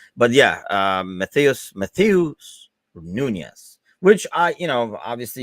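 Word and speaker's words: Núñez: says nope ain't happening and let me not butcher the name anymore uh yeah it is nunez i was like am i having a brain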